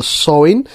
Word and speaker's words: Samhain: back to the ancient Celtic festival of Samhain pronounced the Samhain.